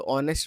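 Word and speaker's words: honest: तो ऑनेस्ट में क्या यूज़ होगा? एन यूज़ होगा कि नहीं? एच साइलेंट हो जाता है तो एन ऑनेस्ट वन होना चाहिए।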